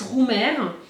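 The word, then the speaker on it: Römer: Mais la marque, c'est Original Britax Roumer. Et donc, Roumer, ça s'écrit comme ça.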